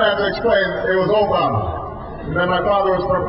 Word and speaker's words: Obama: this funny name Barack Obama well people would mispronounce it they call me Alabama or they call me Yama and I'd have to